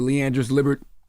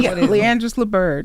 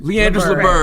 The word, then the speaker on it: Leandris Liburd: Leandris Liburd. Did I pronounce that right? Yep. No, it's not fine. No, what is it? Leandris Liburd. Leandris Liburd.